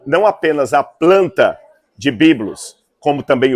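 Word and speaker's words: βίβλος: inteiro também chamava-se biblos apenas tem uma letrinha de diferença na hora de escrever Bíblia os em grego para se referir a planta ou para se referir ao Porto mas a pronúncia é biblos então os egípcios produziam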